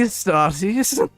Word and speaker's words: Astartes: What are the sons of the Astartes? Can't believe this. Adeptus Astartes. Is most of the time in this game they pronounce it Astartes.